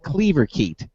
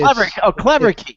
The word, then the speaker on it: Cleverkeet: So the next one is now if I pronounce this right, Cleaverkeet. Well, it's Cleverkeet. Cleverkeet. Yeah. So not parakeet, but Cleverkeet.